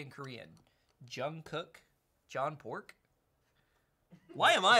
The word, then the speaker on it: Jungkook: Oh, I'm getting, apparently it's Jungkook. not Jungkook.